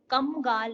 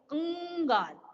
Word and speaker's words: कंगाल: लेकिन इसकी प्रोनाउंसिएशन, जब आप इसका प्रोनाउंस करोगे इस शब्द को, तो क्या बोलोगे, कम गाल नहीं, क्या बोलोगे, कंगाल।